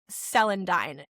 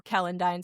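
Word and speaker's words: celandine: plant is called greater selandine is I think the way that you say it like ce l i n d i n e um or kalendine selandine and she sent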